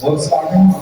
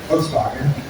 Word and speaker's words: Volkswagen: So the English pronunciation goes Volkswagen because it is a V, Volkswagen. In German it is Volkswagen.